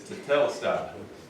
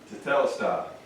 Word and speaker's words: tetelestai: Carlton, you know how to pronounce that? It's tetelestai. Okay? Tetelestai.